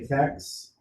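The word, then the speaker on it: TEKS: inequalities by multiplication now how do you pronounce this fatigues some people say tex i always said teaks it stands for texas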